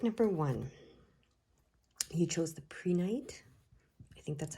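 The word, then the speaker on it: prehnite: how it's pronounced uh it's p-r-e-h-n-i-t pray night pre-night it says it helps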